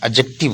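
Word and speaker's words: adjective: अच्छा ये लफज़ जो है ना एडजेक्टिव होता है। इसमें डी साइलेंट है।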